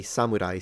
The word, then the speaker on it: samurai: is very similar now I know that when I speak English I say samurai samurai but the original Japanese pitch is Samurai it's a ha pattern so it's an accent word flat word for those who have